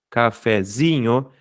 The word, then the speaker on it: cafezinho: Se a tônica é o zi, cafezinho, e eu tenho aqui no final, eu tenho outra sílaba, isso quer dizer o quê? É que eu tenho outras sílabas, nhos, quer dizer o quê? Que a penúltima sílaba é a tônica. Se a penúltima sílaba é a tônica, logo, essa palavra é uma palavra paroxítona.